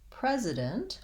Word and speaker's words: president: the sound s and the word president we have the letter s and the sound z so i can see